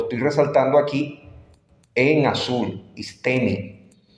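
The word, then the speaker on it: ἵστημι: está la palabra original y Note Cómo se pronuncia lo estoy resaltando aquí en azul istemi y fíjese todas las lo lo que traduce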